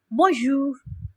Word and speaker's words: bonjour: So we use it in the formal context most of the time and we pronounce it bonjour.